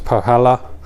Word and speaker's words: Põhjala: to pronounce this right i think it's pohala and this is their